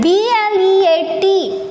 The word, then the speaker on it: bleat: Now next is B-L-E-A-T. It is blate, bleat. What? See here. See, spelling totally different, but phonetic, bla-e-ta, bleat. What is it? Bleat. A little bit lengthy pronunciation of E.